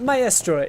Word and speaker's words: Maestro: now I'm gonna say maestro for the majority of this car so ever I have been informed by my girlfriend who speaks Italian that my astre is the most accurate pronunciation anyhow that echo is